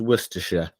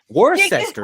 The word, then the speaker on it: Worcestershire: do you know it's because you properly pronounced Worcestershire I I that's right no American worst sector I'm not really really